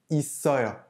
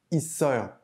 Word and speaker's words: 있어요: On note de nouveau que notre consonne finale, le 쌍시옷, ne se prononce pas à l'infinitif, 있다, mais il se prononce bien sous sa forme conjuguée parce qu'il est suivi d'un son de voyelle.